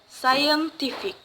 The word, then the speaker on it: scientific: So the word stress, the stress placed on the second to the last syllables. Comprehension. comprehension. Or the other example is scientific.